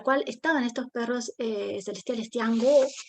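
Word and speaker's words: 天狗: estaban estos perros celestiales tiango es pronunciarlo bien eh que que eran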